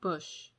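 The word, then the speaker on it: Busch: livin bush bush it's b-u-s-c-h but i feel like that's usually pronounced bush it's barbara stanwick and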